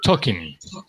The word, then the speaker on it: talking: Talking. Talking. Talking, yeah. The L doesn't sound, Talking.